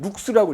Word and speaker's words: 룩스: LX라고 쓰고 읽을 때는 룩스라고 읽어. 룩스.